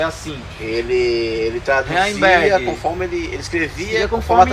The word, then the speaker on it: Heimberg: Então a pronúncia é Heimberg. Heimberg.